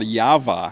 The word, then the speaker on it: Jawa: Jawa engine what you how would you pronounce well the chicks call Yahveh yeah Bob would the Americans say Jawa we say Java cause it's JWA and that looks like Java to us and I used to